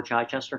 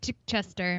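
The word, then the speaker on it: Chichester: the with the local how do you pronounce the name of this lower Chai Chester Chai Chester See We we've all been saying it wrong uh I called it chick Chester Chai Chester uh you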